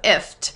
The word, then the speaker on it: IFTTT: really benefit from and it's pronounced gift without the G so if is how you pronounce